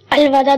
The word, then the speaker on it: الوداع: کچھ لوگ کہتے ہیں الوداع اور الوداع. الوداع درست تلفظ ہے.